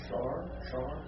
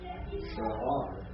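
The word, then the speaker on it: שער: Well, it's 2 syllables. I'm not going to actually pronounce the I in guttural. I mean, you could try to pronounce it, but I'm not going to worry about pronouncing it. But I will pronounce both the vowel points separately.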